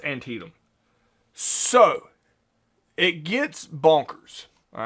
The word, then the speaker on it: Antietam: So you'll see it written out, and it's pronounced Antietam.